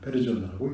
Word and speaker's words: persona: 그 영어의 person이 라틴어로는 그 persona라고 써서 페르조나라고 읽습니다. 그 라틴어의 페르조나는 연극에서 그 배우에게 주어진 배역을 의미하거나 또 때에 따라서는 연극 배우가 쓰는 가면을 의미하기도 합니다.